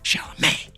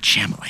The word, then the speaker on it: Chalamet: Besties, Jack was looking in the mirror before the pod going, Chalamet. Not Chalamet, Chalamet.